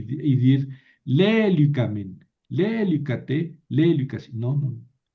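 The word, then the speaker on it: λελύκαμεν: Por eso aquí tengo que mover el acento. Lélicamen, porque aumenté dos sílabas, ka, men.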